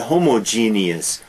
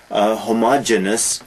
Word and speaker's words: homogeneous: hetero other heterogeneous and homogeneous often mispronounced homogeneous no homogeneous heterogeneous eos heterogeneous is